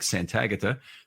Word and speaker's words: Santagata: And today we have Bengals expert, one you've heard on the show before, Mike Santagata.